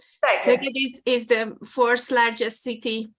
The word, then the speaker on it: Szeged: And she is working at University of Szeged. Szeged is the 4th largest city in Hungary, actually. So it's a university of large city. Szeged, yeah. Let's ignore the Z, and then it's easy to pronounce it.